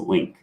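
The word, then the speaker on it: LingQ: i n g q it's pronounced link for those words okay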